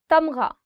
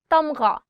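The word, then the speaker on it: تمغہ: Tamgha, medal. Tamgha, gha. The sound of gha or the alphabet ghain is always coming from here. So try it from here. Tamgha.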